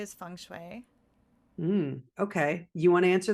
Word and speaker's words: feng shui: So the whole term is, the proper way to describe feng shui is to say feng shui, because that's how it's said in China.